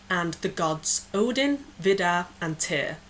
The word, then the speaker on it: Tyr: gods Odin Vida and tier which is spelled t yr and I will be